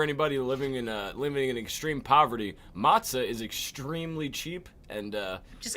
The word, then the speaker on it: matzah: Oh yeah, the matzah. Matzah, yeah. Remember we lived off that shit at the He Lecter did house? matzah with you. Yeah. Fun fact for anybody living in extreme poverty: matzah is extremely cheap, and Just it grab will-